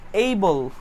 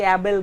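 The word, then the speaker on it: able: এইবল 2 নাম্বারটা যেটা হচ্ছে এইবল, এইবল মানে হচ্ছে সক্ষম। অ্যাকিউমুলেট একত্রিত করা, এইবল, উচ্চারণটা কি করছি দেখছেন, এইবল, এটার মানে হচ্ছে সক্ষম। অনেকে অ্যাবেল বলেন, অ্যাবেল, অ্যাবেল ইটস এইবল।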